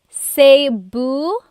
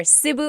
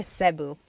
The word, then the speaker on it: Cebu: So, technically in the Tagalog alphabet, the letter E can be pronounced E or E like the letter I. So, I say Cu. Cebu. And I know some people say sabu, but usually it's either sibu or sebu.